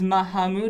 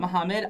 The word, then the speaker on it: Mahamud: My name is Mahamud, not Mohammed.